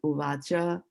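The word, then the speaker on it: uvāca: So whenever there is a bar, like a rod or a bar, right? Straight bar there, this is how we will pronounce it, uvacha.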